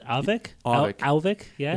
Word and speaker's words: Auvik: Am I pronouncing this right? Auvik? Auvik.